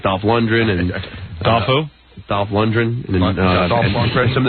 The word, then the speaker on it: Lundgren: sounds out phonetically so the guy spells his name l-u-n-d-g-r-e-n so it's like lundgren yeah and so he's